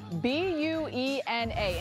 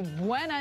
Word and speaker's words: Buena: These that are spelled exactly the same, but pronounced entirely different. So spell it out with me here. B-U-E-N-A.